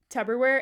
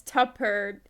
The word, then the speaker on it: Tupperware: leftovers as Tubberware, and I am saying Tubber with a B. This is a thing Julia has done for a very, very long time, audience. Is spelled it Tubberware. I don't know why I say it, but that's just how I say it, and it's not how it's spelled. It's Tupper, Tupper.